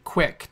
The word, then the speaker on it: QUIC: firepower threat defense, 623, block QIC QUIC to force TCP, so we can do TLS and or SSL decryption. So QUIC is pretty cool, right? It's pronounced QUIC. It's QUIC UDP Internet Connections.